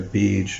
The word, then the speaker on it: beej: Now, when I say beej, it's spelled two ways usually when you go search: B-I-J-A or B-E-E-G. Sorry, say again, B-E-E-J. So if we look at